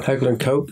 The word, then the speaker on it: Heckler & Koch: So Heckler & Koch?